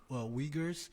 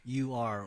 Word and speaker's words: Uyghur: It's Uyghur. Yeah. Uyghur. Yeah. I gotta really emphasize on the we.